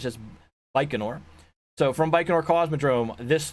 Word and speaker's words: Baikonur: and he corrected me I was using an L sound and there's not an L sound in there it's just Baikonur so from Baikonur cosmodrome this Thursday there is a launch at around 7 p.m.